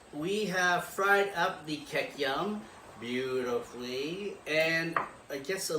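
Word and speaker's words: kikiam: What is the correct pronunciation for it? For what? Queukam. Kekyam. Kekyam.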